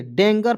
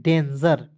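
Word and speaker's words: danger: दोस्तों ठीक है देखिए डेंगर पढ़ना नहीं है दोस्तों इसे पढ़ते हैं डेंजर ठीक है डेंजर पढ़ते हैं डीई एन जी ई आर देखिए जी का उच्चारण दोस्तों ज के रूप में करेंगे ठीक है वैसे दोस्तों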